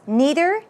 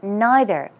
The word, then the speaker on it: neither: say neither or neither this word is pronounced two ways neither neither okay especially if you